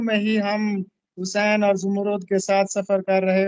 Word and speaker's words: زمرد: سر زمرد تلفظ بھی بتائیے گا، زبر ہوگی، زیر ہوگی یا پیش ہوگی؟ یہ لفظ ہے زمرد.